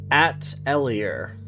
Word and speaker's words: atelier: It is phonetically. It is Atelier. Oh, duh. Is French. Is okay. French. Atelier.